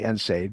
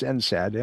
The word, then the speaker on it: NSAID: And some people say NSAID, but it's NSAD and NSAID. Either one.